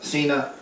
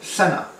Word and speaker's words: Sena: say one day hello Xena hello Xena didn't answer so the proper pronunciation is hello Sena when I said Sena